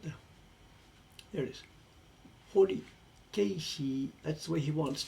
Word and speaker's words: keishi: It's not keshi, it's ke. Well, ke, it's 3 syllables. Ke-i-shi. It would be K-E-I-S-H-I, I guess, if you were putting it in Roman letters.